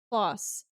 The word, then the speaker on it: Klaus: Klaus. Close. Oh no. Klaus? Uh-oh. Klaus, like from the Umbrella Academy. Yeah, he's pronounced Klaus, right?